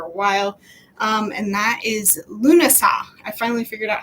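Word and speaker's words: Lughnasadh: And that is Lunasa.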